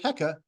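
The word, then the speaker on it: Heqet: bearing the image of heca or HEC to a them in childbirth in Egyptian the uh T at the end of a word is silent and it's often a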